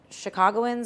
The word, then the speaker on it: Chicagoans: That Chicagoans, am I saying it right?